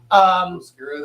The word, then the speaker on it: Oscura: Oscura, that's how you pronounce it.